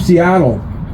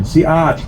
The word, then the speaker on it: Seattle: Chief Seattle, again, a mispronunciation, Siat, and I know we have some Duhamish people here, that he made a famous speech.